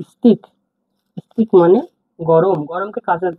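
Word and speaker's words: ыстық: হার্ডভাবে উদাহরণ দেখি দেখুন স্পিক স্পিক মানে গরম স্তিক মানে গরম এটা আই এটা এটি আই কে টি আই কে স্তিক স্তিক মানে গরম গরমকে কাজের ভাষায় বলা হয়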